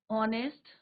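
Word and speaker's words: honest: यहाँ पे एच क्या है आपका? साइलेंट है। साउंड किसका आ रहा है यहाँ पे? Wobble sound.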